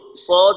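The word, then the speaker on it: ص: তো সদ উচ্চারণ করার সময় যে পার্থক্যটা বলা হয়েছিল যে সদ যখন আমরা উচ্চারণ করব, জিহ্বার আগাটা দাঁতের আগার সাথে লাগবে এবং 2 দাঁতের মাঝে ফাঁকা রাখতে হবে, উপরের দাঁত এবং নিচের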